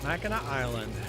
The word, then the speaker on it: Mackinac Island: Mackinac Island. I even pronounced it right.